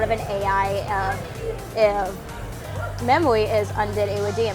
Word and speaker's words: Undidiridium: I try to add a hyphen with Undid and Iridium part, but it's Undidiru.